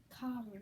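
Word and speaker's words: Kaworu: Shinji talks to Raru for a bit about how Karu, that's how you pronounce it.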